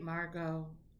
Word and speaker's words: Margot: a question mark great margot i'm hoping i'm saying your name right margo i don't pronounce the t correct yay sophia got